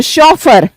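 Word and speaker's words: chauffeur: बताइए नेक्स्ट देखो शफर इसकी प्रोनाउंसिएशन क्या है?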